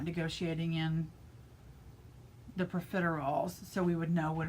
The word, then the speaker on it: profiterole: So this is called profiterole, and I did pronounce that correctly.